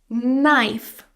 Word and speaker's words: knife: The knife, the main word here, has a silent K.